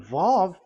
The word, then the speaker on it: vav: And when we see that V is equal vav like in vav as pronunciation. So v the vav is v.